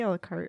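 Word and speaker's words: à la carte: Do you say a la carte? Or A la carte. It's a la carte. Okay, The E is silent. It's like French, I hate French. which means all of the letters are silent.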